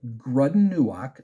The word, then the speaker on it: Grud'in-nu'ak: read part of this um the layer of grudden Newark that's how you pronounce the name grunden grudden Newark the Hobgoblin